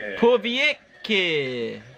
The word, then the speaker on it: Povetkin: Povetkin.